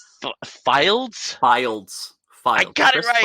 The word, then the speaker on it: Fildes: Jeez, I already forgot the pronunciation. Fildes.